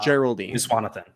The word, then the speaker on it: Geraldine Viswanathan: her name it's like oh um Geraldine uh Geraldine viswanathan yes Geraldine viswanthan Marco and Geraldine viswanathan are both lesbians um like younger lesbians in